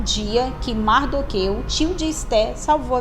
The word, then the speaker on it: Mardoqueu: A segunda história, pessoal, tá no livro de Esther 2:21, aonde o seu tio Mardoqueu, tem gente que chama Mordecai, mas é pronúncia.